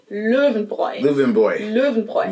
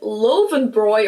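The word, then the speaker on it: Löwenbräu: So then if you put it all together, it's louven. Boy, if you can even do something like loven boy or something along those lines, German native speakers will probably be able to understand and that's really all that matters.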